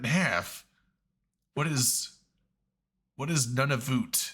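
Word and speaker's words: Nunavut: what is what is n of voot it's like it's none of it I'm like they just pronounce it none of it okay it's not a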